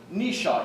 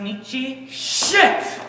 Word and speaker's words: Nietzsche: book by nishang who nisha he's a philosopher look frederick nisha i think that's pronounced nietzsche what's